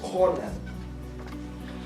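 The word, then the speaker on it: חָנַן: The word graciousness in the Hebrew is kanan, pronounced as Conan.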